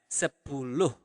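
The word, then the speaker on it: sepuluh: interesting to know also for 10 you pronounce the h at the end of the word so you really pronounce it as sepulog okay but okay one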